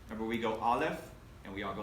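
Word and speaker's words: אלף: Remember, we go Aleph, and we all go like this because the first letter, Aleph, is a silent letter, okay?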